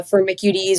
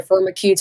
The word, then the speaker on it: Firmicutes: Um, so you spoke to I say uh firmicudes or firmicudes depending on my mood. You you pronounce a little bit differently, tomato, tomato.